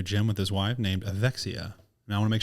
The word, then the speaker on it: Evexia: beautiful brand new gym with his wife named Axia and I want to make sure I'm pronouncing that correct as well yep which I